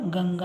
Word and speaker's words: ಗಂಗಾ: ಗೌಜು ಗಂಗಾ ಗಂಗಾ ನೋಡಿ ಇಲ್ಲಿ ನ ಉಚ್ಚಾರ ಬರ್ತಾ ಇದೆ ಆದ್ದರಿಂದ ಗಂಗಾ ಇಲ್ಲಿ ಎಂ ಬರೆದಿದ್ದೀರಾ ಇಲ್ಲಿ ಯಾಕೆ ಎನ್ ಅಂತ ಕೇಳ್ತೀರಾ ಆದ್ದರಿಂದ ಇಲ್ಲಿ ಜಿ ಎನ್ ಜಿ ಎ ಗಂಗಾ ಇಲ್ಲಿ ಗಂ ಅನ್ನುವಾಗ ಮ